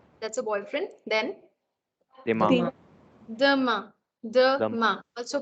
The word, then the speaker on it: demain: demain. Demain. Also, please don't mispronounce this as E. It's a. It's a. Okay.